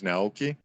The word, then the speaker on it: Naoki: To most people, it's Naoki. I guess the proper way to pronounce it is Naoki.